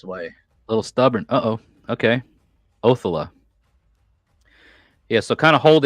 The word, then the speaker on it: Othala: Old Saxon, Old English, the emphasis of the syllable always lands, well, I didn't say always, mostly and usually lands on the front syllable.